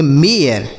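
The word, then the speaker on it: mayor: क्योंकि ए आई के बाद अगर आर रहेगा तो इसका उच्चारण ही बदल जाता है।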